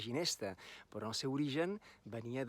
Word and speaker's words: ginesta: Ara digueu, la ginesta floreix, inici de càntic en el temple, Salvador Espriu. La ginesta, aquesta paraula l'hem feta maca, perquè pronunciem la G de ginesta, però el seu origen